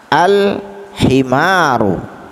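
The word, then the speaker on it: الحمار: Kita lihat huruf ha, al-himaru, ya. Mana huruf qamariyahnya? Huruf ha, ya, huruf ha. Karena dia bertemu dengan huruf qamariyah, maka alif lam ta'rifnya ini dibaca dengan cara bacaan yang terang atau jelas.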